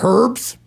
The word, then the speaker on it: herb: played herb herb no you don't you don't pronounce the h okay herb you call them herbs I have some oregano